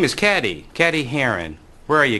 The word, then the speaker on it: Cady: started her name is caddy caddy Haron where are you caddy that's me it's pronounced like Katie a fictional character whose